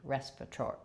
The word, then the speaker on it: respiratory: So thinking of it as respirator, E. This is long, and the rest are short, but this does have a clear vowel and a true T. Respiratory.